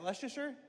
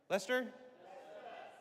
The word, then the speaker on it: Leicester: How do you say? Is that Leasher? Lester. Lester. I probably Jeez, I'm in I've only been the UK for three and a half years.